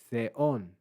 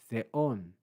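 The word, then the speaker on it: θεόν: We then have theta, epsilon, Omicron, nu, with an accent on the second syllable, theon, theon. That's an acute accent, a rise, theon.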